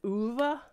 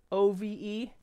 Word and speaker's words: Ove: Right now we're reading one called A Man Called, I think you pronounce it Uva, O-V-E, Ove, A Man Called Uva, maybe. Who here speaks the language of wherever they have kroners?